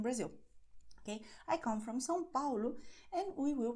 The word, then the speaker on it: São Paulo: Okay, I come from São Paulo and we will pronounce just like I just told you.